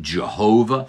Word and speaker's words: Jehovah: That is because it's referring to the one who is commonly pronounced Yahweh. Some people pronounce it Jehovah.